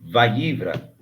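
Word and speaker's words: וַיִּבְרָא: Esse beit aí ele é lido sem a pronúncia da da do cheva simples. Então, a leitura é vaívra, tá bom?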